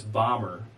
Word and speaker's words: Bahmer: Bommer. Bommer, which is spelled Bahmer.